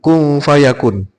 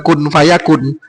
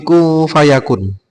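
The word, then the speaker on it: كُن فَيَكُونُ: He kung harusnya kung harusnya kung fayakun. Ayat sebelumnya pripun? Eh wis pokoke nek ora p. Yang jelas bukan membaca kun fayakun, tapi ku fayakun.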